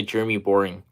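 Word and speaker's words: Boreing: his real name yeah I think the boring has a e after the r but it's pronounced the Jeremy boring uh he he's the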